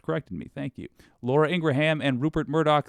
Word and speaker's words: Ingraham: by the way I used to say that name wrong Midas Touch corrected me thank you Laura Ingraham and Rupert Murdoch said about you do you